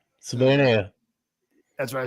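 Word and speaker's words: Savaiinaea: I do think I finally figured out how to pronounce his name. Savana, right? Savana.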